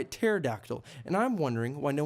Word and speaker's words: pterodactyl: There's this one dinosaur called the pterodactyl. Actually, the P is silent and it goes by pterodactyl, and I'm wondering why